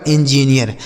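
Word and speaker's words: engineer: हो गया नौ, और डबल ई का उच्चारण ईया हो गया, आर से र, लिखा गया आपका इंजीनियर।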